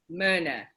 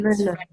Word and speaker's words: Myrna: Am I pronouncing your name right, by the way? Myrna, yes. It's Myrna, cool.